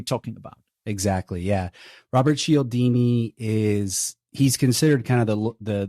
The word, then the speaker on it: Cialdini: From what I understand, this concept of psychological triggers is based on the work of Robert Cialdini. Am I pronouncing that correctly?